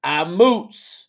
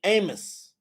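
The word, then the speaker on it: אָמוֹץ: They will say Amos. You got it. That next word is ashar. All right. Now, I'm telling you that when they put them dots on there, it changes the pronunciation of their names.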